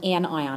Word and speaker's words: anion: ion is called an anion and again you pronounce each part separately and anion are atoms